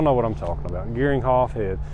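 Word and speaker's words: Geringhoff: going to sell and i'm gonna pronounce this rom with this gearing hoff i believe it's how they say it greg you all know what i'm talking about gearing hoff head it's got a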